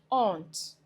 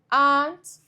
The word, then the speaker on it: aunt: Now, it is pivotal to know that this word is not pronounced arant. Okay. And this word is not pronounced aren't. No. These two words have the same pronunciation. Aunt and aunt homophones.